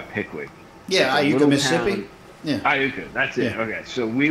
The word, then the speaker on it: Iuka: over over by pwi yeah I Mississippi yeah Iuka that's it okay so we would I'd meet